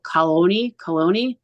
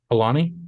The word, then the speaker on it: Kalani: was, and I don't know how you say his name, and I'm going to say it wrong, but it's Kyle Coloni. Alani? Yeah. Kalani. I always say his name wrong.